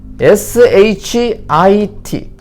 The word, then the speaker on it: shit: 예를 들어 SHEET와 SHIT 위의 발음은 sheet, 밑에 발음은 shit. 차이점은 입술을 옆으로 벌리고 입술에 힘을 주고 E, 밑에 것은 입술에 힘을 빼고 턱을 약간 내려서 E.